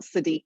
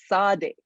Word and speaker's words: Sadiq: at this event that his name is not sadiq khan it's sardic and that he had